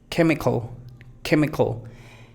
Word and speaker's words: chemical: Chemical. Tenemos una schwa aquí y tenemos otra schwa acá. Tenemos dos schwa y tenemos una sílaba fuerte donde está el acento.